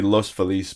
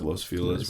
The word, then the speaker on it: Los Feliz: know I like those oh how do you pronounce it Los Feliz it's supposed to be Los Feliz but everyone says Los Feliz which is not the correct pronunciation it feels